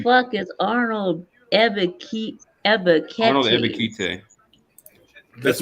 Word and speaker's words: Ebiketie: NFL Draft, the Atlantic Falcons select Arnold F. UkT. who? Penn State, she butchered that. Who the fuck is Arnold Ebiketie? Arnold Ebiketie.